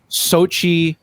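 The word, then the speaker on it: Xochitl: about america chavez chavez america chavez played by sochi i i learned how to pronounce this yesterday gomez yeah what what a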